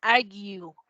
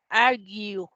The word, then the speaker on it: argue: Esa se pronuncia argue. Argue. ¿Ok? Ven que esa A también tiene dos puntitos. Eso quiere decir que hay que alargarla.